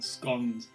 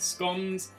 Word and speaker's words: scones: pronunciation of the word scones i do call them scones not scones i know it sounds weird coming from somebody with my accent to call him scone but it is what